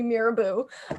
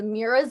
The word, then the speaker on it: Mira: i was 18 and someone called me miraboo um and yeah oh on my medical card it says mira's eye with a z um people don't say my name very it's very phonetic it's just a mira um but yeah well